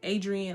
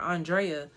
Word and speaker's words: Andrea: i love music and people always pronounce my name wrong i get andrea i get adrian i get adriana i get everything except for andrea so i figure if